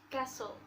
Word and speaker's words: castle: one is letter t the letter t is silent in common words like listen christmas and castle and then the letter